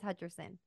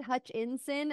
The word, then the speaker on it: Hutcherson: time no I didn't it is Hutcherson sorry I thought I thought you said hutch in sin and I was like